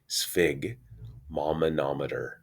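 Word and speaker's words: sphygmomanometer: called a sphig mamanometer okay so that is pronounced sphig mamanometer and this is a blood pressure cuff this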